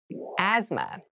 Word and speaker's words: asthma: asthma asthma Asma so this word has very interesting spelling there's a th in the middle but we don't say Asma we say Asma so kind of ignore that but try to remember it when you're spelling this word so asthma is a